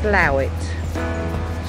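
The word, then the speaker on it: Slaithwaite: called on the map slate weight uh commonly pronounced slow it slew it slew it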